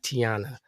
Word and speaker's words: Tayiana: My name is pronounced like Tiana.